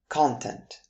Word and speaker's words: content: All right, then let's take a look at content. In the noun form, content, which is a word